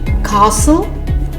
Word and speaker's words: castle: The silent letter T. Interview, buffet, gourmet, rapport, penchant, listen, glisten, hasten, fasten, castle, whistle.